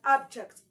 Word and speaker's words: object: it has two syllables the stress Must Fall on the first syllable which is up but when you when